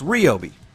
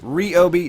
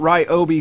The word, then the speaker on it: Ryobi: cop tool once again called me out for pronouncing it wrong they say it's REO be er just so smug but not only that right OB themselves had told me personally that it is pronounced REO be not Rio be saying that I was wrong